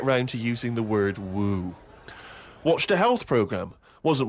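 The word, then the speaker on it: wewe: Woo? Who is Woo. using that word? It was just W-E-W-E. Let's call it a woo.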